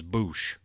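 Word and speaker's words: Boushh: it the name the bounty hunter said he pronounced it in returned the jedi yeah it was Boosh when she first pulled that thermal detonator out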